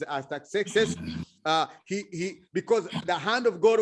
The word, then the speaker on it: Artaxerxes: I don't know, people pronounce it differently, but in French it's Artaxerxes.